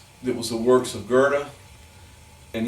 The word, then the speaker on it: Goethe: works of Goethe and you know it's spelled goe tha that was about you know eight years old and nine years old and I went to my father and I said how do you pronounce that yes and he said Goethe I thought was so